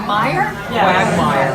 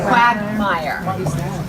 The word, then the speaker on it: quagmire: It's a very easy word to pronounce. It's just not one of my skill sets. Is it Meyer? Quagmire.